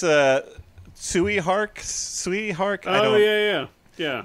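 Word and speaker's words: Tsui Hark: the director's name I'm not really no it's pronounced Rob Schneider okay no it's a Tsui heart sweet heart oh yeah yeah yeah like uh well-known well-known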